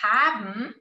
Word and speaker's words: haben: Warum haben, veja aqui, haben, o E aqui não é pronunciado, tá?